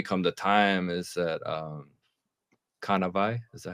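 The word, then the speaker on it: Kānāwai: We come to time is that kanavai, is that how you say it? Kanawai, yeah, It Kanawai.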